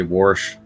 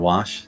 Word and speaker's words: wash: being genuine where say some people say warsh instead of wash that's true almond you